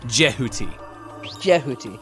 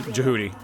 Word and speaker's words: Jehuty: be egyptian i apologize jihuty is egyptian yeah yeah that's why it's actually pronounced like jehuty yeah but i'm also of the jihoody style yeah and people